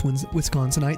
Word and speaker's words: Wisconsinite: It is Wisconsinite. That's how you say it.